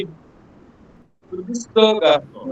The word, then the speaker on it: garçon: pronounce as sir. Sir garçon.